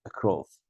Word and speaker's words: across: Across, look, across is on the same, second syllable, across.